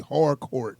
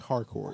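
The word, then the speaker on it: Harcourt: Yeah, especially Hardcourt or whatever her name is. Did I say it right? You keep putting that D in there. It's Hardcourt.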